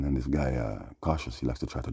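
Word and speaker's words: Koshus: He calls himself cautious. And that's how it's spelled K O S H U S.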